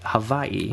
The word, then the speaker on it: Hawaii: Now, you've probably noticed by now that I'm saying some really strange noises when I pronounce words like Hawaii. When I say it, Havaii, right?